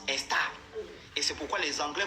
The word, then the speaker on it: Esther: D'ailleurs en perse, Esther se prononce Estar.